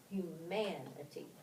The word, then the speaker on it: humanity: It shifts from the first syllable to the second syllable when we add the suffix. Listen, density, equality, humanity.